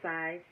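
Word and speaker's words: scythe: so where the grass is cut with a size where rooster Combs and sunflowers grow in the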